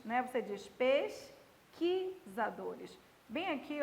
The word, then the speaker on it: pesquisadores: E você não diz pesquisadores, né? Você diz pesquisadores. Bem aqui, ó, o U não é pronunciado e bem aqui você tem um dígrafo.